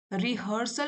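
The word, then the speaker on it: rehearsal: Spelling देख लीजिए यहां पे। रिहर्सल बोलते हैं। लेकिन स्पेलिंग क्या है? एच ई ए आर रिहर्सल तो लाइफ एक ऐसा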